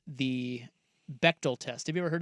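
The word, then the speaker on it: Bechdel: So, she said, "Go look at something called the Bectal test." Have you ever heard of the Beal test? Bectal test.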